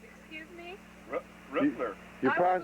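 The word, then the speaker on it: Röttler: Spelled the same, except you've got an umlaut, so it's Rutler. Excuse me? Rittler.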